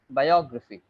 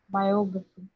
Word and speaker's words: biography: two things to take care of. First of all, the last one would be not graphy. It would be graphy. Graphy. Very, very short. And the word, the syllable before it would be is stressed.